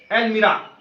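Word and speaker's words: almirah: उसका प्रोनाउंसिएशन है एलमीरा, अलमारी, कपाटिका, संस्कृत में बोलते कपाटिका, ठीक हो गया।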